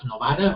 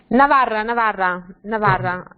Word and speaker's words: Navarra: First, I would like to ask Ana Maria, you said the region of Navarra or the region of Novara, or? Navarra. I don't know how to say it. Yes, from Spain, yes. Okay. yes, Navarra, yes.